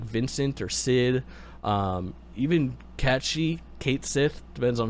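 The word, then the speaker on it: Cait Sith: in wait people can announce it cat catchy cat she is the correct way to pronounce it it's c-a-i-t-s-i-t-h i believe and i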